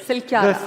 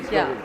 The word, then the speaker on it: Silkyara: Silkyara.